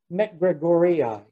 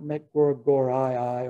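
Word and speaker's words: macgregorii: sometimes when they're doubled it's e-i so mcgregorii is this uh this species of wild rye is elemus with a short eye short y met gregoria not metcor gore iii or mcgregory right and as a panel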